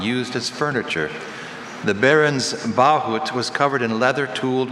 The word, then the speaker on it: bahut: The Baron's bahut was covered in leather tooled with his family crest.